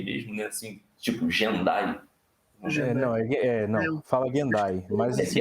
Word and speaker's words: Gendai: A pronúncia é Gendai mesmo, é isso? Gendai, é.